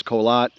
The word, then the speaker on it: Korat: the city of uh Korat we pronounce colat in the province of